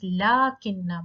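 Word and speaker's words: لكنّ: It's spelled as lakinna, but there is no alif in between. But still we say as lakinna.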